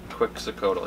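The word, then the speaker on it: Quetzalcoatl: chocolate Chewbacca Cleveland Browns quak cotal who was cast away from the other God for sharing chocolate with humans pronounced quick cotal yeah I'm I know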